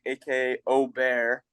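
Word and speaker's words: Åberg: gonna be LV gber AK Oar which is the official pronunciation I can't say it like that I gotta say Aber Berg so ludvig gonna get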